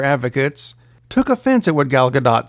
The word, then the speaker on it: Gadot: women Wonder Woman herself gal gadot because you pronounced the t had some comments about the passing of dr.